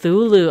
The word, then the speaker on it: Cthulhu: Because some people say that Thulu is pronounced Thulu. Ah, interesting. I didn't know that. Not Cthulhu. Oh, I've always heard it as Cthulhu, but I'm willing to bet that people are like that.